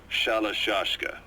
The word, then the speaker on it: Shalashashka: The guerrillas were using the name amongst themselves, and by the time I got to hearing about it, pronunciation had wound up as Shalashashka.